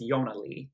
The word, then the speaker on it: ionnalee: an i' because in swedish you don't say the J sound you say yo so instead of Jonah Lee she writes it as Yana Lee e only it makes it easier for people to pronounce it correctly so I quickly had